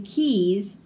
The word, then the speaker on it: quays: We can enjoy quinoa and quiche by the quays of Qatar. So these all make a hard K sound.